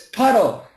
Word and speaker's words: puddle: it's Poppy puy and it's not P it's puddle puddle do you know poodle